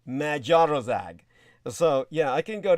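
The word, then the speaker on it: Magyarország: uh of course uh hungary would be magiarozag so yeah i can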